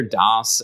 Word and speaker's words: DAS: the company name because i hear das and it's spelled d-a-s not like the operating system dos and as soon as